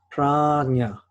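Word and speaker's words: prajñā: In Sanskrit, the equivalent word is prajna, which is spelled P-R-A-J-N-A.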